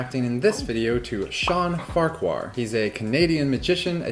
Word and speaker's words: Farquhar: it totally right uh in scotland they pronounce it farker which sounds like i'm picking a fight with you let's get